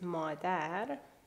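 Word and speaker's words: مادر: The example is madar. Madar. Again, we have the short vowel a, madar.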